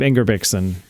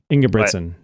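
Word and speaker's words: Ingebrigtsen: Jacob Ingerbixon. I said that wrong. Ingging Briggsen. How do you say it? They say it so fast in TV. I never know. Uh, isn't it Inga Britson? Ina Britson. That's right.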